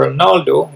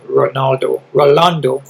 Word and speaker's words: Rolando: His opponent, your Ronaldo, did I pronounce that right? Yeah, no, Rolando.